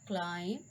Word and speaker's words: climb: the B is silent, the letter B is usually not pronounced after M. Do you remember that? At the end of a word, like comb, bomb, thumb, climb, thumb, tom, crumb, and lamb.